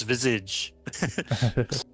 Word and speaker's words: visage: It's visage. French pronunciation. French word meaning face.